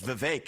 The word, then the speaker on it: Vivek: I say my name's Vivek. It rhymes with cake.